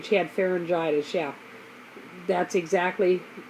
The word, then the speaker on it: pharyngitis: and it they ended up saying she had pharyngitis yeah that's exactly how it's pronounced because I looked it up I'd never